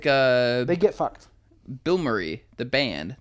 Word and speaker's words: Bilmuri: Bill Murray, how do you spell it? Bilmuri. Yeah, Bill Murray.